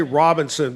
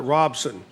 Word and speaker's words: Robinson: Robinson but you know you say Robinson but locals call it Robson I live in Robson